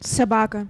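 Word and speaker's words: собака: Sabaka.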